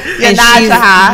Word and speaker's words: Yonasda: Yonasda.